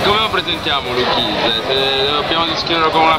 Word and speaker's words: Lou Quinse: Prima domanda, come cazzo si pronuncia? Lukinze. Lukinze. Allora, quindi, prima domanda, come presentereste Lukinze a chi non vi ascolta, chi non vi conosce? Ottimo, bene. Qual è anno? Innanzitutto è Lukinze.